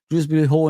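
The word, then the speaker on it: Dewsbury-Hall: Drewby Hall in it, that's how they say his name.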